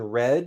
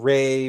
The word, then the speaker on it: Re: And the Re is E as in red. It's not A as in way, right? So it's not Ray, Ray, Ray. It's Re, Re, Re.